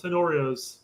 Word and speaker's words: Tenorio: Okay, so since we got our 26 out there, let's take a look at Paul Tenorio's. Tenorio's Paul Tenorio. His 27-man roster. I pronounce it like an English.